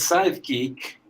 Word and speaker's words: sidekick: Si pronuncias sidekick, tienes que hacer énfasis en la de side. Sidekick y el otro es psychic.